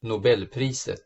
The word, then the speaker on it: Nobelpriset: A Nobel Prize was awarded for this discovery in 2011, and by the way, here's how they pronounce Nobel Prize in Swedish. Nobelpriset.